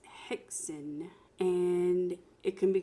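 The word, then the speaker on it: Häxan: know what it is some people pronounce it hex on but the proper pronunciation is Hexen and it can be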